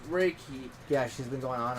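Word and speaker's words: reiki: like her spirituality rii or what however you pronounce re if I remember correctly it it's raiki yeah she's been going on and on about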